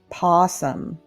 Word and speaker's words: possum: You don't pronounce the O. It's possum.